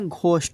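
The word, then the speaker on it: ghost: না শব্দের শুরুতে জি এইচ হলে আমাদের ঘ উচ্চারণ হবে। যেমন for example G এইচ ও এস টি আমরা কি বলব এখানে? ঘোস্ট বলব।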